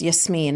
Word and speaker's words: Yasmin: So my name is Yasmin as you'd mentioned. It's Yasmine in Arabic.